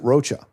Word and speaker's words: Rocha: Yeah, you're sure you have because people don't because people pronounce it Roachcha. That's the natural pronunciation of my last name.